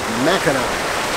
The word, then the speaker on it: Mackinac: But you pronounce them both, no matter how it's spelled, Mackinac.